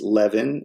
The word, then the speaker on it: Levin: the phone and uh my last name is pronounced Levin and uh the voice